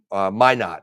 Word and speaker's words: Minot: Minot.